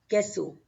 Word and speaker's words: queso: If U is coming between Q and E, then U is silent. So we will pronounce this queso, queso, queso.